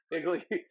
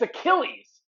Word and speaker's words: Achilles: Iggly Iggly heel. I don't. How do you say it again? It's Achilles. It's the way it's spelled. It's spelled like A is Chili's.